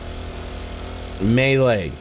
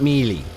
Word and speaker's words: melee: Melee. Yes. It's not me. It's not me. It's melee. It's melee.